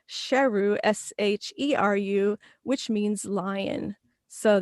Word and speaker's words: Sheru: for the movie is saroo learns that all these years he had been mispronouncing his own name which was actually sheru s-h-e-r-u which means lion